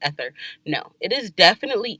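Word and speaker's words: aether: i spelled a-e-t-h-e-r and i said oh it's pronounced ether no it is definitely ether i was definitely wrong and as you can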